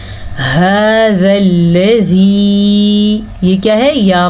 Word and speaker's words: هذا: هذا الذی، ہا کے تلفظ کا دھیان رکھیں، ذال کو نرمی سے پڑھیں، لام کو پر نہیں پڑھنا اور لام پہ رکنا بھی نہیں ہے. هذا الذی، یہ کیا ہے؟